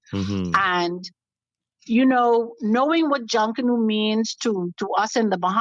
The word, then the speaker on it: Junkanoo: But people, what we've been taught about, it is not Jankono, as how you hear the pronunciation is. Tell us the right pronunciation for that name again. Well, in the Bahamas, we say Junkanoo.